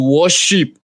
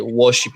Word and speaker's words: Warsheep: want to sleep on by worship the worship is spelled w a r s h e e p can you hear it